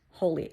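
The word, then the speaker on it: Holi: sorry please forgive me I think it's pronounced holy h o Li I it's a Festival of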